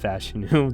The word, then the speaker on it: Fashanu: fashanu out of Penn State yes it is pronounced fashu that is how I found out uh again